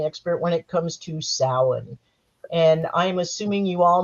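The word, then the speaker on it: Samhain: when it comes to sin and I'm assuming you all know that that is spelled h I'm sorry s m ha Ai and it is PR not pronounced Sam Hayne please do not name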